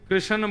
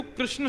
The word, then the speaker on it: कृष्ण: लाल की ज बंधुओ कई लोग इस नाम को अशुद्ध बोलते हैं कई लोग कृष्ण बोलते हैं कई लोग कृष्ण बोलते हैं कोई कृष्णा बोलता है भगवान का नाम शुद्ध उच्चारण करो नाम क्या है कृष्ण जय श्री कृष्ण